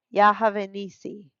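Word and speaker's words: Jehová-nisi: Y Moisés edificó un altar y llamó su nombre Jehováisí y se pronuncia Yahavenisi, el nombre sagrado de Dios y Nisi significa la bandera o el memorial.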